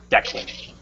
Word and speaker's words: Declan: Somebody's telling me how to pronounce his name. Declan.